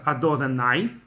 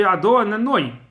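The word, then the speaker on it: אדני: So you cannot pronounce Ado then Nai. That sounds like my masters. That doesn't sound like divine name at all. It has to be Ado and then Noi.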